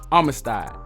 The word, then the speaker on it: Armistead: insider intelligence from James Armistead. Armistead, okay? I've been pronouncing his name wrong. It's Armistead. a patriot who worked briefly